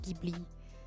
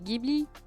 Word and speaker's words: Ghibli: Ça se prononce pas comme ça se prononce Ghibli. Je dis mais au Japon même, ils prononcent Ghibli. Ne me dis pas que ça se dit Ghibli.